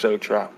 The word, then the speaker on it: Exo Truck: just EXO truck so now I gotta tell people it's ex EXO truck like EXO skeleton EXO truck EXO truck